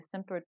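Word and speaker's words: Symphyotrichum: did aster turn into symphotrosium no like symphonia like it's s-y-m-p-h like symphony okay yes it's um you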